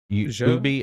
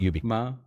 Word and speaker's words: Ubisoft: It comes from a French acronym, Union, blah, blah, blah, blah, blah, blah. So you'd pronounce it Ubi and not Ubi.